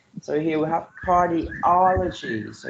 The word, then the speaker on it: cardiology: So here we have cardiology. So you put the stress pattern on the third syllable, right?